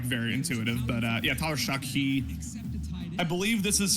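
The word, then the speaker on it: Tyler Shough: you pronounce his name show Sha uh uh Tyler shuck actually is how you pronounce his name it's not yeah it's not like very intuitive but uh yeah Tyler shuck he I believe this is his third school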